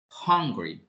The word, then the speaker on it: hungry: But when we want to pronounce hambriento, it's different. We'll be hungry, hungry, hung, hung. Como que lo estamos pronunciando con una J al inicio.